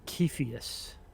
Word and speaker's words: Cepheus: totally mispronounced it totally it's actually kepheus with a k sound okay so so that's